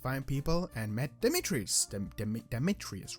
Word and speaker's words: Demetrius: Demetrius, right?